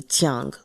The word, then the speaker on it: Tang: a J sound, but it is going to be Tang like it shows on the cover, obviously.